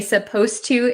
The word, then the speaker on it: supposed to: suppose and supposed to when we say supposed to it sounds like the D disappears but it's actually still there so be careful with that one okay so thank